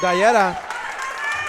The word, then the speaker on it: Dallera: So how do you pronounce this guy's last name? Dallera. Dallera.